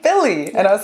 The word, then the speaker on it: Bille: like how do you say her Billy yeah and then I and